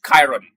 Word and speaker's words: Chiron: So because of that that's where the name the the proper pronunciation is Chiron.